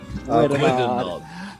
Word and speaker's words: Gwiddonod: Gwiddonod.